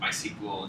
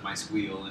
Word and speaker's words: MySQL: But just being able to pronounce things like Django and MySQL instead of MySqueal and Postgres, and it's to me